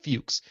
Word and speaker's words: Fuchs: Fuchs replied back saying, you had my name correct the first time. It's pronounced Fuchs.